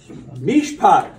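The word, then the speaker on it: מִשְׁפָּט: So it's two syllables, but you have a mem with a hirik underneath it, and then you have the shin with the shiva under it. That shiva is a connector. It connects the mem and the shin together to form one syllable.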